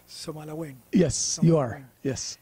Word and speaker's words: Somaliland: I hope I'm pronouncing it right. Somaliland. Yes, you are. Yes, Somaliland.